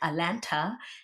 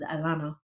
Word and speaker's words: Atlanta: I used to say it like Atlanta, and then they told me it was Atlanta.